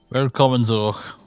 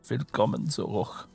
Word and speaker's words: Willkommen zurück: It's just like a funky R in the middle and then phlegm at the end.